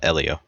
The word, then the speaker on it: Elio: Uh, Elio.